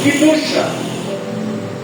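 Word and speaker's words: קדושה: E apenas para nós enaltecermos o nome do Senhor Jesus, a palavra santidade em hebraico, ela é pronunciada como Kidusha no hebraico.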